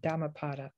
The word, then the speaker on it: Dhammapada: put it in i'll put it into chat it's spelled d-h-a-m-m-a-p-a-d-a damapada the that it's such a potent force that